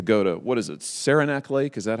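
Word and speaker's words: Saranac Lake: using it to go to what is it sarenac lake is that how I say it I've never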